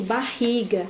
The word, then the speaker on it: barriga: Quando você vai dizer barriga, se você não prestar atenção que barriga, ri, 2 R's, som forte, você vai ler barriga, né?